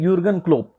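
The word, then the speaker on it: Jürgen Klopp: क्या बोलेंगे हम, ये यूर्बन क्लोप, ये टीम है, क्या है देखते हैं हम आगे, क्या है इसका नाम। इसमें जे जो होता है वो साइलेंट रहता है, इसका नाम होता है यूर्गन क्लोप।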